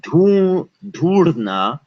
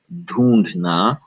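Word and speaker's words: ढूँढना: So this is pronounced dhoondhna, although most times it is spelled dhoodna. You can pronounce it as dhoondhna if you so choose, and I suggest that you do.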